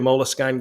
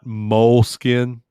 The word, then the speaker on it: Moleskine: like the vhs sam not moleskin no moleskine i don't know that's how i say it who knows you're